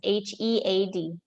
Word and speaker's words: head: past is h.a.d and then head cabeza is h-e-a-d but i feel the same yeah it's pronounced then individually for us to check okay